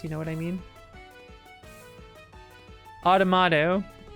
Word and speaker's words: Automata: Automata. I always say it wrong. I always get tongue twisted on Autonoma.